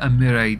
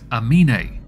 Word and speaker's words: Amine: a video titled Nadia Amire Doxes a Donor. I got the person's name wrong. It's Amine. The R was not there, it was an N instead.